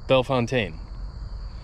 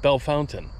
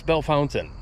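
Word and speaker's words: Bellefontaine: Fontaine everybody pronounces it belf Fontaine no I all the locals call it Bell Fountain yeah it's Bell Fountain I watched it on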